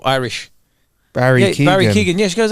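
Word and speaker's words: Keoghan: Barry Keegan. Barry Keegan. Yeah. Really? Yeah, I didn't know how you pronounce his surname because it's spelled Irish. Barry Keegan.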